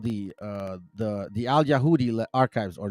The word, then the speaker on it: Yahu: or Yahu or Yama, the Babylonian version of Yahu, meant link them with their deity, in this case Yahweh, but in proper pronunciation, Yahu.